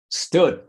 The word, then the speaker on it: stood: Entonces, cuando la pronunciamos, generalmente aquí metemos una E fantasma que no existe y decimos stood. ¿Sí? Entonces, para corregirnos en eso, simplemente enfatice o prolongue la S.